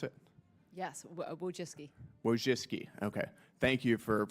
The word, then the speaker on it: Wojcicki: Miss, excuse me, Wojcinski, is that how you pronounce it? Yes, Wojcicki.